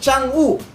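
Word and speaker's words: 嫦娥: Ang pagbasa po nito sa Chinese ay Changu. Changu ganun po ang pronunciation.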